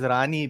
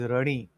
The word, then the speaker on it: Rani: So I may want to pronounce it as Rani based on the English spelling based on the Roman script but then I have to refer to the Indian script to understand that it is runny.